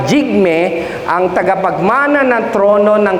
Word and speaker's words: Jigme: po ay si Prince jigme jigme yung pronunciation Hindi hig parang sinabi mo prinsipe Jun diabate di ba par Ganon hindi ah jigme ang tagapagmana ng trono